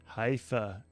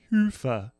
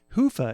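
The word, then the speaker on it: Hyvä: talk Commerce is sponsored by hia or as the Europeans say Hua or the right way to say it Hua is rapidly becoming the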